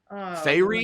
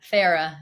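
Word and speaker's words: Feyre: Fairy? No. What did we say it was? Farah is how you say her name.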